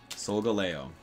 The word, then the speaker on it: Solgaleo: Because the Pokemon community is very, very picky about their pronunciations. And Pokemon fans, too. So, I said, put it to rest. What is it? Solgaleo.